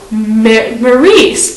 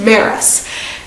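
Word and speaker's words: Maryse: also got to meet Maurice Maris yeah no we're told how it's pronounced it's pronounced Maris and I just they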